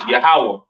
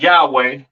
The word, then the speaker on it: Yahawah: There is no uh there's no a sound in the Hebrew. All right. The the the characters are I by God, how so forth and so on. Right? So the Lord's name is Yahawah not Yah Yahwh or or not Yahweh.